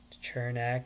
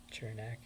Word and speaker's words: Cernak: On defense, Sergachev, Hedman, Chernak. I think it's pronounced Cernak.